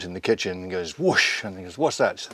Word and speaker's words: Whoosh: or whoosh or however you guys want to pronounce it who whoosh it is whoosh and that I remember when you know Gillan